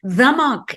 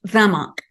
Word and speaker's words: Zemach: Zemach is spelled Z as in zebra, E-M-A-C-H, C as in cat, and H, Zemach.